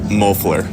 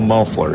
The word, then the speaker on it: Mofler: been getting it right officially say your name for me mofler mofler yep see I keep saying it wrong s right we we'll